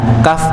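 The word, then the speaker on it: كاف: Ya, kaf itu tipis bacanya, qaf itu tebal.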